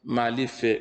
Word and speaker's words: Malife: And this is how this is how to pronounce it, Malife, which is M-A-L-I-F, then E.